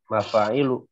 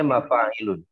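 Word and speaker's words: مفاعل: Jadi mafa'ilu tidak boleh bacanya mafa'ilun. Ya.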